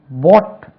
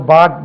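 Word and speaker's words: bought: பாட் பாருங்க உச்சரிப்பு அது பார்க்கும்போது நம்ம பாட் பாட் என்றே கேள்விப்பட்டிருக்கோம் போட் என்று உச்சரிக்கணும் போட் அழை அல்லது கூப்பிடு இதை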